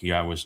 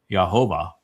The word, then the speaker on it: Yahweh: And the biggest challenge of all is that with all of the mispronunciations, like Yahweh's name, there's so many people that want to make it Yahovah that it's just excruciating to break the I voices from saying it that way.